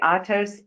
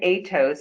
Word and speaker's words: Atos: And by the way, Atos and Atos are both the same company. You can use whichever pronunciation you like.